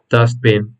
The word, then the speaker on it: dustbin: So once again, British is dustbin, you pronounce it with an A, not with a U, dustbin, and Americans pronounce it, or they use the words trash can.